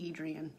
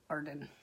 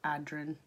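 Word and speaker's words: Adren: But I say Adrian, but it should be pronounced Arden. Or Adrin. I don't know.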